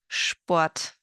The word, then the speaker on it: Sport: The ST sounds like an SHT, st, and the SP sounds like an SHP, sp. Here are some examples. Stadt, Stopp, Apfelstrudel, Sport, Spanien, Beispiel.